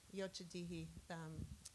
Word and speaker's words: Yocha Dehe: We had San Manuel Band of Mission Indians as well as, Don, help me with the pronunciation, Yochadihi from up north.